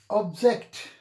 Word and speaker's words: object: Object. Here, you have got two syllables, but the stress is on the second syllable.